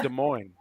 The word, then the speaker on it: Des Moines: des moines iowa no it's des moines yeah the asses are silent or the s island and okay take the